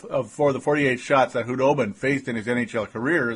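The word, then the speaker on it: Khudobin: Hudobin. It is officially Hudobin. The K is silent.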